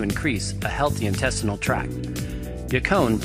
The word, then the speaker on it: Yacon: Yacon, pronounced Yacon, is said to increase metabolism as well as control appetite and food cravings.